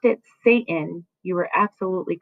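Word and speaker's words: Seyton: If you pronounced it Satan, you were absolutely correct.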